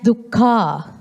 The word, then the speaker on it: dukkha: Some pronounce it as dukkha, but it's the correct word is dukkha.